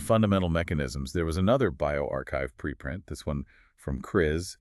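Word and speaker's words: bioRxiv: For example, uh over on bioarchchive, remember that's pronounced bioarchchive.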